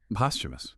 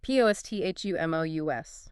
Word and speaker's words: posthumous: Posthumous. Posthumous. Posthumous, international, .sarasis. U.S. posthumous. It looks tricky, but that H is silent.